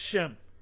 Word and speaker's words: Shem: They're really supposed to say Shem. It's pronounced Shem.